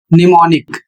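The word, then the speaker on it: mnemonic: इसमें am silent हो जाएगा। जैसे इसका उच्चारण होगा निमोनिक।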